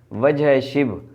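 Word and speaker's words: وجہِ شبہ: وجہ شبہ ہے یہ، اسے وجہ شبہ یا وجہ شبہ پڑھ رہے ہوتے ہیں تو یہ غلط تلفظ ہے اس کا۔ اصل تلفظ اس کا کیا ہے؟ وجہ شبہ، یا پھر اس کو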